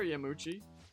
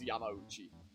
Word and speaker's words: Yamauchi: Oh, well, as I was watching the Persona 5 animation, it occurred to me that I found out from that how you actually pronounce it. I believe it's Yamauchi.